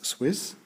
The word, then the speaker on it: SW15S: I simply pronounce this Swiss.